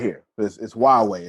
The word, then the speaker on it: Huawei: right here this is huawei it doesn't look like that but that's how you say it okay 5g rethink possibilities